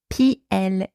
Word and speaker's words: plus: to pronounce the word p l u s in French so can be pronounced PL or the final s in that word often creates some confusion because sometimes it is silent and we say PL